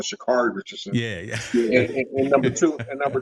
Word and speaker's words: Sha'Carri: our interviewer post interview you mispronounced her name and she would correct them say my name is known Shakari Richardson yeah yeah and